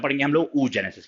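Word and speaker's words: oogenesis: उ जेनेसिस ठीक है उसका स्पेलिंग है double O जी ई एन ई एस आई एस उ जेनेसिस को उ ऊ जेनेसिस पना इट्स उ जेनेसिस और अगर बनेगा स्पर्म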